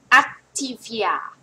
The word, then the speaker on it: Activia: activia activia นะ คะ อ่ะ ออก เสียง ว่า อั activia activia นะ คะ มัน เสียง อั นะ คะ activia activia แต่ ของ